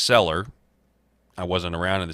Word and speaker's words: Celler: The Hart-Keller Immigration Act, and that may be pronounced Seller.